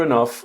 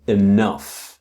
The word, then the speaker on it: enough: It means the same thing as enough. Okay? Now, again, the pronunciation of enough. I know that you can spell E N O U G H. Pronunciation is an F sound.